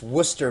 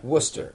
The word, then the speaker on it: Worcester: carlton rob from it i think it's pronounced worcester massachusetts yeah worcester even though it is there are there are many letters in there that are not pronounced like this you've been